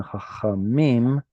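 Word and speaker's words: חכמים: So chacham is like this, and then chachamim. So we're going from, let's see. Okay, so it goes from chacham, and now that this is so far away from the stress, it drops to chachamim.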